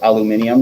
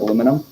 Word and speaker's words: aluminium: other weirdness like that like they say aluminium instead of aluminum what's that it's spelled differently too yeah they spell it aluminium they put an extra eye in it and labor and color